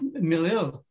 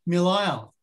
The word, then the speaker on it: Melille: to that extension of Melille. Because it was written, of course, with an S, but they always pronounced it Melille. Melille. And they still pronounce it Melille.